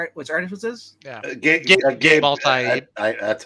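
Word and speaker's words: Gabe Eltaeb: Gabe Altaib. That's how you pronounce that.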